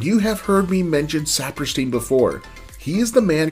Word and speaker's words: Saperstein: him or worked for him and they consistently pronounce his name as saperstein i am a big believer that people are